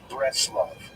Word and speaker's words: Breslov: confused with Bratislava, and it's usually pronounced in Yiddish as Breslov.